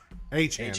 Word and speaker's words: Achane: Achane, that's what it is.